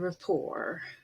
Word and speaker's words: rapport: t gets pronounced but a t at the very end is usually silent and we have borrowed